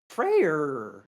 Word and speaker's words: Freyr: Freyr coming in, or as you like to say, Frey with your Danish pronunciation. No, Frey against I say Hades. Frey like an Englishman would say Frey. What do you mean, like an Englishman? There's an R on the end.